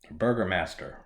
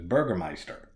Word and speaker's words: Burgermeister: word up because Burgermeister Burgermaster Burgermeister the the subtitles say fucking Burger Master but when they the way they pronounce it is Burgermeister he's he's a fucking